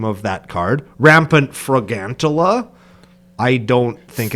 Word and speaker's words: Fragantula: I say it like fragantula, like a tarantula. Fragantula. But it's gigantic though. It's like gargantua, not tarantula.